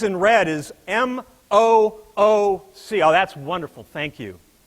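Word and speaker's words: MOOC: says in red is M ooc oh that's wonderful thank you how do you pronounce that word folks moo have you guys all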